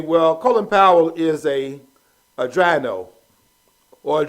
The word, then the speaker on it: Drino: Okay, well, Colin Powell is a Drino, or a Drino, whichever way you want to pronounce it.